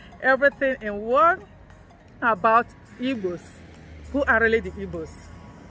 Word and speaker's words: Igbo: Who are really the Igbos? Igbos are people who lives in eastern part of Nigeria.